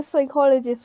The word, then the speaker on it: psychologist: can't you hear the psychologist when they go to the toilet the p is silent oh my god that